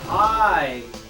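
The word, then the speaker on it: Pai: Pie. It is pie, right? Yeah, That's yeah. how it's pronounced.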